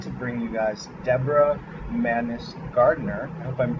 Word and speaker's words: Mannis-Gardner: guest I'm excited to bring you guys Deborah madness gardener hope I'm pronouncing your name correctly it was perfect thank